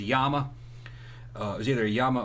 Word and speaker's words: Llama: It was a copy of a Colt 1911 that the Yama, or some people call it Llamas. That's what it is. Either the correct pronunciation is a Yama.